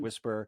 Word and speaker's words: WSPR: It's pronounced WSPR. It stands for Weak Signal Propagation Reporter.